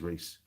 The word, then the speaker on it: Rhys: with me people yes tis reese it's spelt r-h-y-s and i were hiding my head for some reason r-e-e-c-e confusing but uh rhys was really